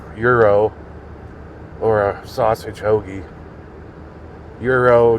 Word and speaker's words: gyro: Euro gyro, whatever you want to call them. Euro, I think, is the right pronounce pronunciation.